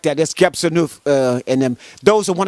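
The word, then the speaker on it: Qebehsenuef: Quebesanuf. Oh, you're not saying it right. Okay. Quebesanuf. How you Okay. pronounce it? Yeah. Let me just correct that. That's Gebsanuf and them.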